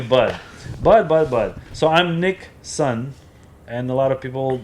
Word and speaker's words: Nikson: personally, like like direct, they'll call me Nick Sun. And it's not like spelling the same as Nixon uh like the president, but it's Nick. My name is spelled as Nikki. It's Nick, short for Nikolai. And then son is son of Nick because I'm Nick Nick.